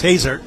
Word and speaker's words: Hazer: asked about a spell pronounced his name it's hazer when he gave me